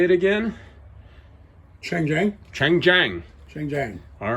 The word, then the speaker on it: Chang Jiang: Chang Jiang.